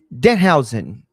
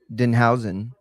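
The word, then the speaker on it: Danhausen: Why did she say Why did she say his name like that to Danhousen? It's Dan Housen, not Denhausen.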